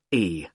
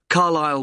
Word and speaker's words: Carlisle: It's Carlisle. You don't pronounce the S. Carlisle Way.